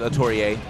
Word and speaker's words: Atelier: if you watch genesis we were calling that man atelier because we didn't we were just reading it so we got the actual pronunciation it is a tourie so get it uh